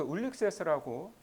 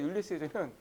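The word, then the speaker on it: Ulysses: 예, 근데 여러분 그 이 오디세우스는 이제 그 그리스어 이름이고 라틴어로는 그 울릭세스라고 발음을 했는데 영어 발음이 율리시즈입니다. 예, 그래서 여러분 그 오디세우스와 율리시즈는 다른 사람이 아니라 이제 같은 사람이에요.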